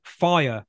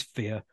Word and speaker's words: Phia: She's also about to launch what's called FIRE, or FEAR. It's spelled P-H-I-A. It probably is FEAR, knowing the way these people's brains work.